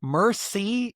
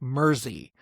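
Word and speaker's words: Mersea: I listened to a lot of ways of saying it, and Mersey is not exactly right. It's more like Mersey is how they say it.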